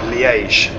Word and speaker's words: Liège: So that is the Dutch and Flemish way of saying Liège. So in French it's Liège, and in English, in English we also say Liège.